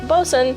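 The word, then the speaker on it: boatswain: It is pronounced bosun, even when it is...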